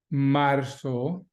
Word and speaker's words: marzo: So clase repitan enero, enero, febrero, febrero, marzo, marzo, no, the Z is not a Z, so don't give me marzo, marzo just like an S.